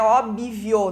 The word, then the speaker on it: óbvio: mendingo e sim mendigo óbvio não é óbvio não tem esse I depois do B né Ele é um B mudo propriedade então palavras que T